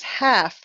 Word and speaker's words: half: And this word is half. We don't need to say the L. It's like after, half. You try. After, half. Right. We don't say the L. The L is silent.